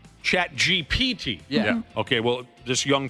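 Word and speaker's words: ChatGPT: For example, why does everyone over the age of 40 say chat GBT? I don't know the proper way to say that. What? I've never heard anybody say that. Well, what is the proper chat chat GPT? Chat GPT.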